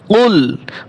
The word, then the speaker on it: قل: قل أعوذ برب الفلق قل أعوذ برب الفلق কফ লাম পেশ কুল, বড় কফ দিয়ে বলবেন, কাফের মতো যেন না হয়। কুল কফ লাম পেশ কুল,